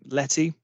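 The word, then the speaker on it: LETI: on the right so um Randy mentioned um Letty as it's pronounced so l-e-t-i Letty for those of you who haven't come across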